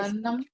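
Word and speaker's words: हसन्: हम आगे हसन हसन हम गलत उच्चारण कर रहे हैं। कैसे उच्चारण करेंगे? हसन हसन हसन हां हसन हसन उदिता क्या होगा?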